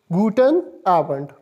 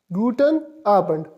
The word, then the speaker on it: guten Abend: n a be e and D in it pronounced is guten abend guten abend r1 means evening abend generally means evening and